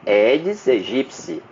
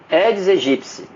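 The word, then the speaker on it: Aedes aegypti: é o aeds egipci que é a pronúncia correta edes egpce Já ensinei isso já expliquei em outros podcast pronúncia correta Ed egípcia então o eds egipci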